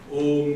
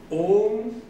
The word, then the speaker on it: Om: Om has 3 syllables, A, U, M.